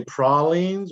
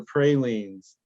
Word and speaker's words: pralines: Do you say pralines or pralines? Probably pralines. Yeah, pralines. Apparently pralines is how they pronounce it in New Orleans.